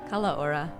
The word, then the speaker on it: Kalaora: How do you pronounce it? Kalaora.